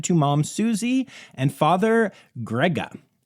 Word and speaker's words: Grga: mom Susie and father Grega. I think it's pronounced Grega. It's just spelled Grga, which, like, you know, who needs two vowels when you can get away with one?